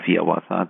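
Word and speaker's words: Hiawatha: When one of his most famous poems, the song of Yawasa, that's how he wanted it to be pronounced, published in 1855.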